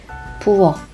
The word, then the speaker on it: 부엌: 부엌, 부엌. Let's look at another example, 앞, which means in front of, and we pronounce this like 앞, 앞.